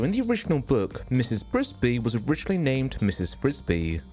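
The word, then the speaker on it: Frisby: Frisbee was originally named Mrs. Frisbee, which, while it's spelled differently, it sounds awfully close to the toy Frisbee, so you'd be forgiven to mistake the name for the disc.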